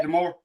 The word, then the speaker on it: D'Amore: Scott D'Amore. Scott D'Amore. Got the more. Yeah, That it, D'Amore.